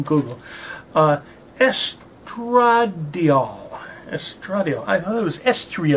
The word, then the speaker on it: estradiol: that up on Google uh yes drug deal estradiol I thought it was s3 at all but